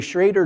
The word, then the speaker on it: Schrader: And I'm going to pronounce it Schrader because that's the way I've always heard it.